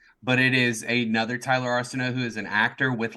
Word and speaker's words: Arceneaux: Damn, such a great intro to mispronounce my last name. It's Arceneaux. Yeah. Arceneaux Hall. It is. That's closer, actually. It's Arceneaux. You were close. Arceneaux.